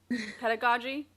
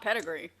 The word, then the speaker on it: pedagogy: pronunciation presumes prodigious precise pegagi pedagogy not pedigree pronounced tamagotchi i think